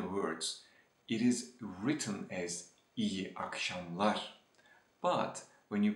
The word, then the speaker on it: iyi akşamlar: Just because iyi ends with a vowel and akşamlar begins with a vowel, you will hear from the Turkish natives like this. İyi akşamlar, iyi akşamlar, instead of iyi akşamlar.